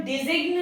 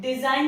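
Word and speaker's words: design: Just like in डिजाइन, एन के पहले जी आ रहा है तो वो साइलेंट हो जाएगा। इसे हम डिजिग्न नहीं पढ़ते हैं, डिजाइन पढ़ते हैं। सिमिलरली हम इसे रिजाइन पढ़ते हैं, ना कि रिजिग्न पढ़ते हैं।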